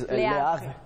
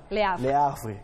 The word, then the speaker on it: Le Havre: Você me corrige a pronúncia, você que fala francês. Le Havre. Le Havre, isso.